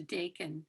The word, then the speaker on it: Dakin: have bacon or ducking how is it pronounced thanks for asking it's a deacon yeah they can and at my show and